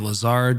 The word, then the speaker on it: Lazard: So you worked at major financial institutions like UBS and Lazard. Is that how you pronounce it? Lazard?